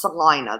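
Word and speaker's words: Celina: It's actually pronounced Salina, though.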